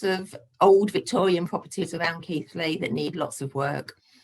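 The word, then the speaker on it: Keighley: keithley near bradford and nobody can pronounce it it's keithley not keeley and and we concentrate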